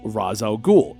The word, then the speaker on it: Ra's al Ghul: arabic for demon's head the arabic pronunciation for the first syllable is ra us the character's creator